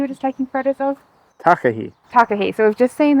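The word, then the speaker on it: takahē: M that you were just taking photos of takah takah so we've just seen the takah there's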